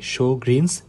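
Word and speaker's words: Sjögren: সেটা হচ্ছে শোন সিনড্রোম এটার উচ্চারণটা হবে শোনস সিনড্রোম এছাড়াও আরো অন্যান্য কারণ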